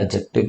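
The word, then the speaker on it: adjective: एडजेक्टिव में भी D silent होता है, एडजेक्टिव कहते हैं।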